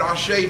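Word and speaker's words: àṣẹ: the way for those who don't know what ashay means it's spelled a-s-e accent in English characters and it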